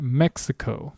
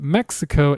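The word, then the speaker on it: México: What I mean by this, a good example of this is the word for Mexico. But Mexico is the English pronunciation. In Spanish, the word is pronounced Mexico.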